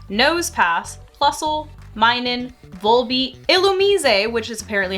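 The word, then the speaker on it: Illumise: dot Nuzleaf shiftry nose pass Plusle minin vul ilum which is apparently how that's supposed to be pronounced I didn't know that until like two days ago I've been pronouncing it ilum for the longest time trap hinch VI braa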